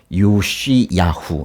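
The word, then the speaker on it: יֹאשִׁיָּהוּ: 이제 끝에 이제 이게 요시야후 이렇게 읽거든요. 요시야후. 근데 이제 끝에 이게 이제 히읗 그런 발음이 나요.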